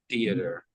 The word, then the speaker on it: theater: rather be at the theater theater theater so we just do two syllables for that theer the a is silenter theater the theater the theater